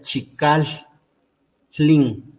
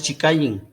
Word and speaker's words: Chikallin: melódica recae en esta vocal y entonces se pronuncia chicas clean una vez repitan chica lse link no es chica ying no no es así chica ying no es